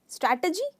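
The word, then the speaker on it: strategy: इसका correct pronunciation है स्ट्रैटजी। तो हम ट कहते हैं, ट, ह का साउंड, टे नहीं कहते, तो स्ट्रैटेजी। पर इसको आप स्ट्रेस करते हैं स्ट्रे पर। स्ट्रैटेजी, आप स्ट्रैटजी नहीं कहते हो, आप कहते हो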